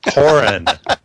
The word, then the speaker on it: Coughran: You have to say my name right. Coughran. I keep wanting to throw the GH in there. I don't know why. It's silent. It's silent. The GH is silent. And the U is silent.